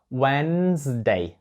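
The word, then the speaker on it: Wednesday: wasts Days Days Day буква D не вимовляється в цьому слові перша принаймні друга Day вимовляється перша Ні whense Day winds Day До речі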